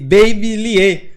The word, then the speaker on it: Babilier: Baby. E de ateliê, Lier, Baby Lier.